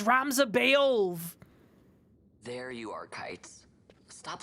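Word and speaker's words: Ramza Beoulve: It's Ramza Beolv!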